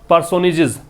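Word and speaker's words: personages: या फिर द 4 पर्सोनेजेस, पर्सोनेज का मतलब है फेमस पर्सन, ठीक है, लिख लेना, फेमस या इंपॉर्टेंट पर्सन को पर्सनीज बोलते हैं, पर्सनीज जिसका प्रोनाउंसिएशन है, फेमस या इंपॉर्टेंट पर्सन,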